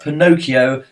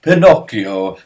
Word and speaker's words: Pinocchio: cure view Tommy's pronounced Pinocchio go back to the States you uneducated scumbags it's Italian it is pronounced Pinocchio I think Janice some